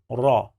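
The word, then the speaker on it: ر: It has the sound of r, like letter R in English. So the sound of this letter is this.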